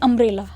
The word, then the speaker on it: umbrella: अम्ब्रेला, UMBRELLA है ना, तो हमारे यू से स्टार्ट हो रहा है, यू हमारा वोवल है इंग्लिश में, और जब हम उसको प्रोनाउंस कर रहे हैं तो हम बोलते हैं अम्ब्रेला, ओ का साउंड आ रहा है तो ए हमारा स्वर होता है।